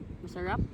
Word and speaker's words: masarap: Ma ma masarap.